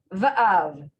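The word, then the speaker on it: وָאָב: That's just v. So you're just saying you're just pronouncing the v. Va'av.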